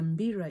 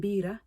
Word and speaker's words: mbira: invoked and come and give guidance, because the mbira is played in various settings, especially our sacred rituals, which we call bira. So if you take out the M from mbira, you're left with bira.